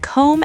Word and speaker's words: comb: And same with comb and lamb. Here's the pattern. If you see MB at the end of a word, the B is silent.